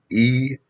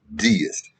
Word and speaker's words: Deist: D-E-I-S-T, Deist. Some people pronounce it Deist, same thing.